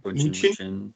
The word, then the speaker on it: München: Bayern, how do they pronounce it? Bayern München.